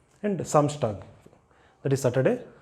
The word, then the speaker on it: Samstag: And Samstag, that is Saturday, Samstag.